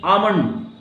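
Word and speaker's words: almond: आमंड.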